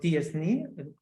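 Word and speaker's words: t-SNE: of you have heard the word tsni it pronounced like that in English I guess or your map or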